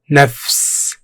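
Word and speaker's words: نفس: Pronounced Nafs.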